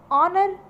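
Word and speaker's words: honour: Similarly third में है हमारे लिए ऑनेस्ट, ऑनर, आवर और आयर। ठीक, तो इसमें भी हमारा H साइलेंट है।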